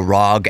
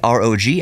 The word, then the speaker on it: ROG: the Rog allies people people keep calling it the rag Ally and it's one of those things like ASUS ASUS how you want to pronounce things the rag Ally I say Rog Ally because Rog stands for Republic of Gamers it's asus's